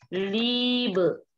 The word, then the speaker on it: Liebe: Kalau IE itu dibacanya panjang. Misalnya di sini Liebe.